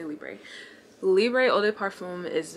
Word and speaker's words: Libre: Libra holiday parfum I I know it's not pronounced librae by the way I think it's pronounced like leave I'm pretty sure it's pronounced like that I can't speak French anywho I'ma say Libre Libre oh de parfum